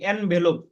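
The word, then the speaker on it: envelope: Eagle, eraser, মৌসুমী, এরেসার, ইনভেলপ, এরেসার, এরেসার, এরেসার, মৌসুমী, ইনভেলপ, খাম, স্যার এনভেলপ, এনভেলপ খাম। হ্যাঁ, ইনভেলপ, ইনভেলপ, খাম, হ্যাঁ, এখানে রস্যের উচ্চারণ হবে না, এর উচ্চারণ হবে এনভেলপ, যেমন এগ, এনভেলপ, এলিফ্যান্ট, এনভেলপ, এরেসার।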